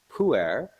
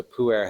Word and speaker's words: pu'er: tea called pu'er, which is a fermented tea.